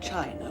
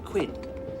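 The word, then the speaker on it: Qin: the Great Wall of China was designed by the emperor Quinn whose aspirations Excuse Me Miss Seymour it is pronounced chin oh thank you Mr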